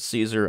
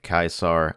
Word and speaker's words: Caesar: I've always pronounced this series as Caesar. I know the technical Latin pronunciation is something along the lines of Caesar.